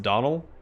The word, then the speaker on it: Donal: gonna be it's pronounced donald it is the origin of my name in gaelic basically it's pronounced donald without the d at the end donal i'm a he all